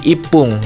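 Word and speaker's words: 十一分: Nah, maka kata satu-satunya itu ya diubah jadi ipung gitu ya.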